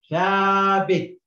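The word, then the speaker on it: ثابت: Okay, so it's half size here, and the last letter here is a ta, but it doesn't got any movement, so it's silent. So we read this as thabit, thabit, which I told you is stable.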